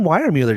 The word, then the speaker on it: Weiermuller: John Weiermuller, did I say that right? You did. Unlike Jason Horn, you know how to pronounce it.